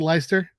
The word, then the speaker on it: Leister: All right, is it Leister? Yep. Like, There we go. Star.